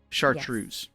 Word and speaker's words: chartreuse: right so the pronunciation the CH in English it will normally be like CH like a check but here it's an sh sound like sha shart trus right so EAS why